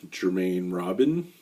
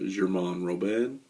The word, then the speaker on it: Germain-Robin: a brandy called well with an american accent it's germaine robin but i think if you pronounce it correctly it's uh german robin and basically this is